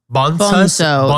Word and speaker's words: Bonzo: Bonzo. They said bonzo. Bonzo. It sounds more like bone at the top because it's Spanish, not bonzo.